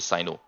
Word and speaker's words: Cyno: tinari but at least I know that the Chinese version is actually Sino the Chinese version reset Sino so I'm going to